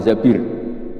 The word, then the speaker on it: Zabir: Kemudian saya nikah sama Abdurrahman bin Zabir. Di hadis ini bukan bacanya bukan Zubair tapi Zabir, Abdurrahman bin Zabir.